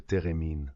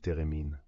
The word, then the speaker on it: thérémine: Avec le Divine Ensemble, un grand ensemble de musique classique, qui met à l'honneur le thérémine. Si vous ne connaissez pas le thérémine, allez voir ce que c'est. Ça s'écrit theremin.